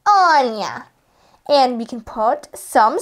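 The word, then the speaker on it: Ania: So my name is spelled A-N-I-A, like this, Anya.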